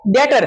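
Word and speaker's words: debtor: फिर जैसे यह क्या है? डेटर। क्योंकि टी से पहले बी आने पर क्या हो गया? साइलेंट। तो क्या हो जाएगा?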